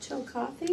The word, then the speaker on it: Chillicothe: Chillicothe. Oh, I was wondering how you pronounce that.